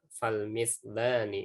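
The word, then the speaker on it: فالمثلان: Lanya kurang panjang. Mislani tadi bacanya harusnya mislani fihi ma ahaq ya. Karena dia ini menunjukkan makna dua, jadi nggak boleh pendek ya.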